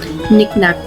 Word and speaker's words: knick-knack: छोटे छोटे डेकोरेशन के जो पीसेस होते हैं उन्हें हम knick-knack भी बोल देते हैं. So knick-knack के दोनों में है but it is silent.